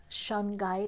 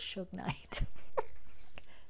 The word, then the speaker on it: shungite: reading if you chose shungite I have to remember how to pronounce I used to call it Shug knite hey Suge you got